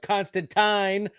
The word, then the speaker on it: Constantine: talking about who well Constantine rhymes with swine we spoke with Sai